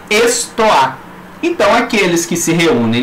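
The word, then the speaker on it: στοά: Porta ou pórtico da cidade, escrito em grego, pronuncia-se estoá.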